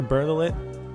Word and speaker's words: Bertolet: Taylor Bertolet. Bertolet? Yeah, that's how you say his name.